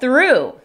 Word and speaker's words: through: Next we have through. Here's the IPA spelling. Y así es como lo puedes escribir para recordar la pronunciación.